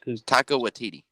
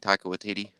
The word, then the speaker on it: Taika Waititi: The guy who directed or who's Taika Waititi.